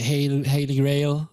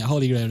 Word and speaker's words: holy grail: category what was considered to be like the hailey rail or holy grail is that how you say it in english yes yeah holy grail right there we go three times as the